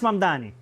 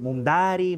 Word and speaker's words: Mamdani: Fíjense, nadie sabe pronunciar mi apellido, es Mamdani, pero a cada rato me dicen Mumdari, Mumnari, y esto es algo que muchos inmigrantes tenemos en común.